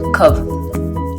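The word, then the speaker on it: Cobh: cœur pour cet endroit que l'on appelle COV alors ça s'écrit COB C o B h mais ça se prononce COV avec l'accent irlandais bon il faut avouer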